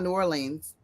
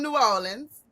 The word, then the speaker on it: New Orleans: this correctly because it's it's not New Orleans. Yeah, it's New Orleans.